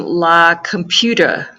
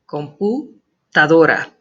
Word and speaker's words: computadora: Some of you are pronouncing la computer, like computer. It's la computadora. Computadora.